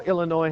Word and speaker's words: Illinois: Illinois. Ladies and gentlemen, even though Illinois has an S at the end of it, you do not pronounce it.